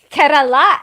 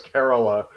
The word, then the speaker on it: Kerala: I realized that like with Indian words wherever I think the emphasis is on a particular syllable it's always the exact option yeah like he just hate that it was Kerala and it's like no no I thought I thought and you're like no it's Kerala yeah like what foreign